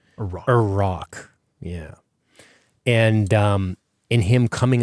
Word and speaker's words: Iraq: This little Indiana Jones movie up front, which was Merrin doing some sort of archaeological work in Iraq, or Iraq, as it should be pronounced. Iraq, yeah.